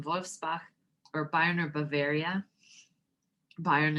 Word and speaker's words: Bayern: Bayern is how you say Bavaria in German.